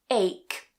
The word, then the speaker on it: ache: So it's not ch like in cheese, but it's c like for example in ache.